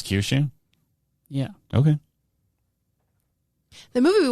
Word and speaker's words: Kyushu: in Japan as well cue shoes and Kyushu it's a homophone Kyushu is it actually pronounce Kyushu yeah okay the movie